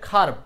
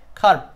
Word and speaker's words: curb: এটার উচ্চারণ আসলে খার্ভ, উচ্চারণ হবে খার্ভ।